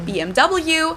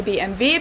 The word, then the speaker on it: BMW: in English people say BMW in German we say BMV because W is pronounced V in German and it stands for